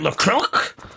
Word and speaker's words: LaCroix: I would love to be drinking not orange LaCroix.